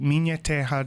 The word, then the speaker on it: Minha Terra: We have a website called Minha Terra Documentary, and I'll spell that because it's not spelled like it sounds.